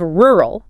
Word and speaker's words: rural: Following that we have rural pronounced r or eel. Rel. We have to acknowledge the difficulty here of the two consecutive R sounds. That poses a significant challenge for many non-native speakers.